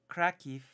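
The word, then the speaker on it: Краків: the Polish city Kraków, would be pronounced in Ukrainian Krakiv, the city of Krakiv, because in Polish it's Kraków, Lwów, Kijów.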